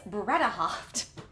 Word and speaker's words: Bredehoft: wrong this whole time i've been saying bren with an in it's bretta hopped but i finally got